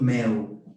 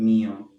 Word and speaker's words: meu: O prazer é todo meu. Meu, not mio.